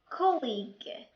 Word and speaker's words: colleague: Sometimes U is silent when it comes after letter G. بمعنى بعض الأحيان كيكون اليو silent إذا جا more letter G. An example: colleague, guide, tongue, guilty.